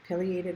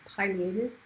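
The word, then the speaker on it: pileated: This is a piated woodpecker. You can also pronounce it more properly as paleated, but people say both and I tend towards affiliated.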